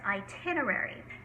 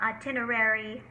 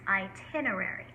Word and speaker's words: itinerary: And it is pronounced itinerary, not itinerary or itinerary, it's itinerary. Journey.